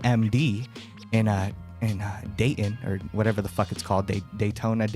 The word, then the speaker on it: Dayton: Dayton.